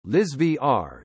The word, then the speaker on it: Elsevier: elsevier Dutch pronunciation Liz VR is a Dutch information and analytics company and